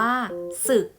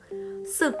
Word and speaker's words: ศึก: นี้ ไหม คะ ลูก คำ นี้ อ่าน ว่า ศึก ศึก เป็น ภาษา ปาก มา จาก คำ ว่า ลาสิกขา นั่น เอง ค่ะ ลูก